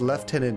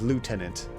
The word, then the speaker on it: lieutenant: a funny thing just left tenant is how it's traditionally said in England versus lieutenant it's like an American traditional way a lot of them